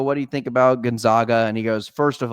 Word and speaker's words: Gonzaga: Uh, and it's pronounced Gonzaga, Jake. Some people call me Kevin. not Kevin. It's Gonzaga, not Gonzaga. Just so we're clear.